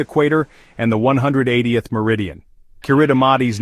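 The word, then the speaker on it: Kiritimati: Kuridamati's name, pronounced Christmas, comes from its discovery on Christmas Eve in 1777.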